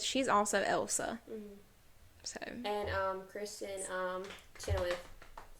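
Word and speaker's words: Kristin Chenoweth: And Kristen Chenoweth, I say her name? Yes.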